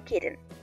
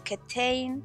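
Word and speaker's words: Kitaen: Tony Kitten. Comentario de Paula, la editora, como siempre yo y mis pronunciaciones. Aparentemente el apellido de esta mujer es Ketain y yo lo estoy diciendo mal en todo el video, entonces pues nada, aguántenme.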